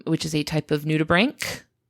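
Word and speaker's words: nudibranch: is a type of nutubbrank which I pronounced nuda branch for the entire episode it was very embarrassing once I found out that that was not how that is pronounced and I would very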